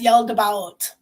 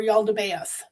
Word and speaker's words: Yaldabaoth: He's the demiurge, also referred to as Yaldabaoth or Yaldabaoth, depending on who you're talking to and how they pronounce the name, right?